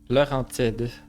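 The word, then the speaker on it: Laurentides: I mean, that's how you would say it in English, but it's Laurentide. It's a region around where I live. I never heard it in its English pronunciation.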